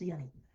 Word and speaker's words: Giannis: It's pronounced Yanni.